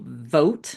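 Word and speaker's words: Vought: specifically for this wacko Russell vote is how you say the name it's v u ght um he was up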